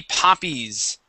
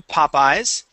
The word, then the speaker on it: poppies: in each case Okay the pronunciation of that y will stay the same so if in the singular form if the word is Poppy okay it would be poppies all right we would not change that to Popeyes okay same thing here